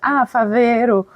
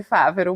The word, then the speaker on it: Favero: mas as pessoas acham, Favero, mas o acento é no A, é Favero, mas enfim, não tem problema nenhum, pode pronunciar de qualquer forma.